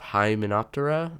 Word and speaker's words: Hymenoptera: So then is it part of Hymenoptera? That's how you pronounce it.